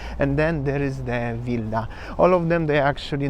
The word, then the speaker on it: Wilda: today I'm in vilda vilda in Poland it's pronounced vilda not wilda there is w at the front pretty easy